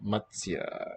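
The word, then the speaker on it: मत्स्य: So first syllable is just ma, plain letter M, and then we have T, S without the stem, Y, Y with the stem. That's Matsya.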